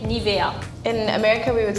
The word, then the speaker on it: Nivea: on the eye yeah I think you would say Nevaeh we would say Nivea yeah far away but it's like very very similar but you just pronounce in a very American way that's it it also